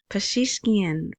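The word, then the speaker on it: Pezeshkian: This is Pashishkian Masoud Pashishkian. Finally, I know how to say his name. At least that's how they say it on the news in Baghdad.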